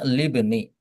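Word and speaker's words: لابن: ketika ditambahi le ya, maka hamzah di sini alifnya ini menjadi tidak ber ee tidak dibaca. Tidak dibaca namun dia tetap ada ya. Namun dia tetap ada. Jadi bacanya libni.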